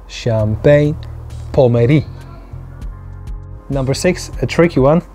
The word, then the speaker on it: Pommery: Canal duchenne one more time duchenne number nine champion number eight number seven champagne pomeri champagne pomeri number six a tricky one which is one